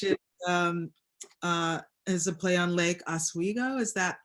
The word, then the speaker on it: Oswego: which is a play on Lake Oswego. Is that how you pronounce the lake?